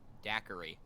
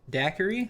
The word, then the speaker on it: daiquiri: let's see what would be good a uh dakiri is that how you pronounce it daiquiri daiquiri there you go she is practically begging for